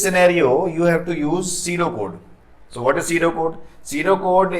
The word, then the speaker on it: pseudocode: Now third point is pseudocode. Here P is silent, S-E-U-D-O-C-O-D-E, pseudocode.